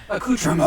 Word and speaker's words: accoutrement: The T is You don't- very silent. Only Yes. dogs can hear it. When you pronounce the T, you sound like an uncultured swine.